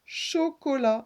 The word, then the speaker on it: chocolat: Et on aperçoit le T à la fin qui ne se prononce pas.